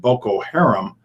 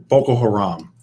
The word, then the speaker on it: Boko Haram: American military officials say 2 of the world's most feared terrorist groups, the Islamic State and Boko Haram, have begun to collaborate more closely, raising alarm that they are working together to attack American allies in North and Central Africa.